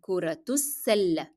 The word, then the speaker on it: كرة السلة: Notice here that alif and lam in السلة will not be pronounced. Because alif, it is preceded by a short vowel, which is dhamma, and then lam is followed by a shadda letter, and that's why both of them will be dropped in pronunciation.